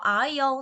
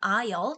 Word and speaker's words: aisle: 그래서 aisle 당연히 우리 요거 S 발음 묵음철인 돼서 들리지 않는다라는 거 아실 거고요. aisle 통로를 이야기하는 거죠.